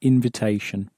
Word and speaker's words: invitation: Let's look again at the word invitation, which was a little bit trickier to pronounce because the in at the beginning has that sort of sulky teenager sound that's pronounced. Un.